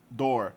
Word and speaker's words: door: Door, é porta, ele é pronunciado como se fosse um O normal. Door.